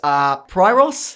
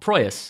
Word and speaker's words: Proyas: Alex Pryros. How do you say that guy's name? Who? The guy who did Dark City. Oh, Proyas.